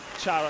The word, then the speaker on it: Chara: O'Hara, as we should say that the world knows this giant, and never a nickname was more appropriate with the pronounce of Chara, and that's the one we will use.